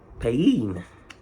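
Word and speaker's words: paean: Pain. Pain. A pain is a song and it's and it's spelled like P A E A N. Pain. So it could be pain.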